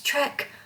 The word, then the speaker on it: Trek: i love star trek i always call it track because i grew up that way my dad didn't say it correctly i guess so to speak i don't know stephen my husband he's always like it's trick it's trek i'm like i don't care